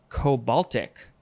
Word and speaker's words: cobaltic: indicate humidity next is cobaltic cobaltic it's like the baltic sea uh with the co at the beginning adjective from 1782 of